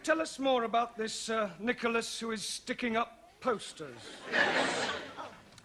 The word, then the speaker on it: Nicholas: upon a time there was a man called nickel us once upon a time there was a woman called nickel it's pronounced Nicholas alright once upon a time there was a